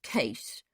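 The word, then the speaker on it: Kees: remarked the young man my name is case that is spelt k-e-e-s it is short for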